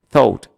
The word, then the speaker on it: thought: Não toca muito a língua no céu da boca. Deixa a língua solta. Thought. Não toca a língua em lugar algum e você vai pronunciar corretamente.